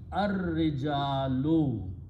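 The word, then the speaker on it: الرجال: Al will remove one dhamma, and because of the ra, shamsi letter, lam is not pronounced, but ra is pronounced twice. So it becomes ar-rijalu.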